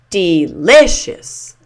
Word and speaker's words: delicious: That means that the li I shish is the primary stress syllable. So this will be said loudest and longest. Delicious.